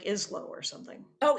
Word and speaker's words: Ismo: I forget how to pronounce his name. It's like Islo or something. Oh, Ismo.